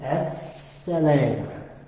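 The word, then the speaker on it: السلام: The fact that we're not pronouncing this L, Right. that's a part of the additional stuff Right. that everybody may not know. Okay. We go from here to there. Leaving this, don't pronounce that. Now, if you want to pronounce it, that's a whole different orientation. But normally it's just as-salam.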